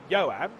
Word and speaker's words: Johan: Johan Half is actually a really good example of that because it would be more like Johan, right? Because you wouldn't say the H.